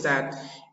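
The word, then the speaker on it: the: খুবই কনফিউজড হয়ে যাই টি এইচ ইটাকে অনেকে দি বলে অনেকে দা বলে আবার কেউ সামথিং লাইক দ্যাট দি বা দা এবার এক্সাক্টলি কোনটা হবে দা হবে না দি হবে মনে রাখবে দা দি সমান সি এই যে দা আছে দা সি অর্থাৎ কনসোনেন্ট সাউন্ড হলে কনসোনেন্ট সাউন্ড কনসোনেন্ট হলে হচ্ছে আমরা দা বলবো আর যদি ভাওয়েল বি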